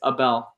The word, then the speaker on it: Abel: how do you pronounce your name I've been pronouncing it wrong yeah it's Abel Abel Abel made a breakthrough yay I'm just